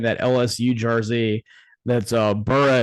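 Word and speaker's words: Burreaux: LSU Jersey that's uh burra is spelled Cajun style b-u-r-r-e-a-u-x actly exactly so that'll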